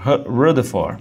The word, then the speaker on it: Rutherford: um cara chamado Ernest Rutherford, que era um neozelandês, ou Ernest Rutherford, né? Se você quiser falar a pronúncia correta em inglês, ele fez um experimento já envolvendo radioatividade.